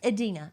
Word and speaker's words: Idina: Idina, why are you saying I? It's E. Cuz it starts with an I. It's Idina. Idina.